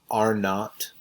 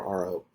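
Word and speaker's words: R₀: So it's pronounced R naught or RO.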